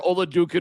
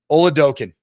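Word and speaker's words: Oladokun: And we don't want to talk about where Oladukin was drafted. Is that what you're talking about? And no, I want to pronounce his name correctly. Oladokin.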